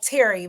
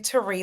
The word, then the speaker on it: Teri: I know it looks like Terry, but it's actually Teri. There's an accent on the I.